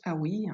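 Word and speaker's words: Haüy: juste ah oui alors ça se prononce ah oui donc ça s'écrit h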